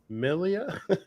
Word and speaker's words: Miglia: us or schooling us do not pronounce the g in miglia okay wasn't millie miglia